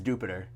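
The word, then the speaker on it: Dewpider: It has been officially confirmed Dupider is Jupiter.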